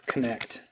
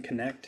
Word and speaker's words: Knecht: I guess it's Connect. Dalton Connect. I think that's how you pronounce it.